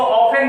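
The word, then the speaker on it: often: इसको ऑफेन पढ़ते हैं, टी साइलेंट होता है।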